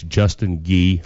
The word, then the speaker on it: Justin Gee: well I told him until 10:00 tonight it's Justin ghee regardless so hey y'all let me come in